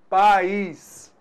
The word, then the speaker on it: país: Então, na palavra país, opa, pais, apenas uma vogal. Então, apenas uma sílaba. País, eu tenho duas vogais, o A e o I. Opa! Então, nesse caso aí, você notou que a gente tem duas sílabas, cada vogal com a sua sílaba.